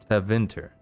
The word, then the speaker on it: Tevinter: Tevinter. That sounds better to me. Yeah, I'm putting the emphasis on the second syllable.